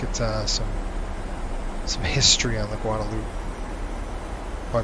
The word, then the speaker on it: Guadeloupe: That's called Guadeloupe, or Guadeloupe. as they pronounce it, Guadeloupe.